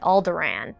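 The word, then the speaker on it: Alderaan: survivor of the planet alderan that's right I pronounce it like my homeboy Tarkin you want to make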